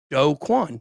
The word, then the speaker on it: Do Kwon: It is in fact pronounced Do Kwon.